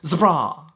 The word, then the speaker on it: zebra: The first up is what you'd say in America, zebra, but in the UK you'd pronounce zebra. Okay, it comes from a German word, so they try and pronounce it in that accent.